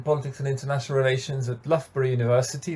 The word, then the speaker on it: Loughborough: and international relations at loughborough university that's the other thing people aren't sure how to pronounce lothbra here in the uk and yeah i did